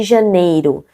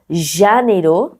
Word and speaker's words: Janeiro: Et vous connaissez déjà des mots, par exemple, comme au Rio de Janeiro. Janeiro. Je dis pas janeiro, je dis pas janeiro, c'est janeiro.